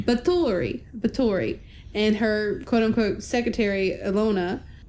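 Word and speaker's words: Báthory: So next we have the arrival of Countess Elizabeth Bathory. Bathory? I'd said it wrong. Bathory.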